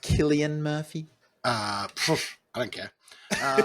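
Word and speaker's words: Cillian Murphy: Elliot pagee Tom Hardy selan Murphy Tom barer and Michael Kane uh I believe you'll find it's pronounced Killian Murphy uh I don't care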